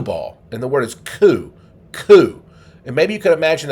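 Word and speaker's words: 九: You pronounce the 9 in Japanese this way, ku.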